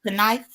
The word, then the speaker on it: knife: But the K is silent in knife.